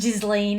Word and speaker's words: Ghislaine: Anyway, it was recently brought to my attention that remember Ghislaine Maxwell? Yes. She was really good Ghislaine. friend. Ghislaine, if you don't want to pronounce it the French way.